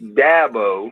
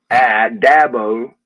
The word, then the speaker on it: Dabo: It's Dabo, as in apple, Dabo, and I get all kind of pronunciations of that, and it's Sweeney, as in just like EE.